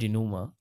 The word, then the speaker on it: denouement: denouement. Sorry, the pronunciation is denouement.